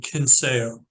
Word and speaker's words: Censeo: Censeo. Almost like with a K, like with a K.